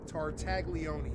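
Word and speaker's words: Tartaglione: Tartagleone.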